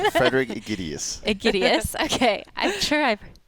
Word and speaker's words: Aegidius: me how to say your last name Frederick idus idus okay I'm sure I've I've heard that before it's been butchered many times but whenever I see I